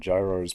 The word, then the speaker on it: gyros: Wait, no, you said gyros for dollars, gyro dollars for euro, and gyros pronounced the exact same as euro.